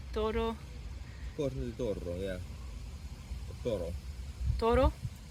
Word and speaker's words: toro: Toro. Toro? Is it 2 R's or one? 1 R. Yeah, toro, yeah.